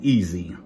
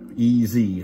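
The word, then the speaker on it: EZ: uh Smith and Wesson easy easy is the way they pronounce it but you know so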